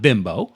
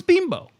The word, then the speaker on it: Bimbo: I know it's not bimbo I know it's beam bow even though you've known